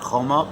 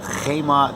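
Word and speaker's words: חמה: The letter is spelled Chaser Vav, not Choma, but Chema.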